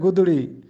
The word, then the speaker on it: گدڑی: اوڑھا کرتے تھے۔ گدڑی، اکثر لوگ اس کو گدڑی پڑھتے ہیں جو کہ غلط ہے، یہ درست تلفظ ہے گدڑی۔ گدڑی کا مطلب ہوتا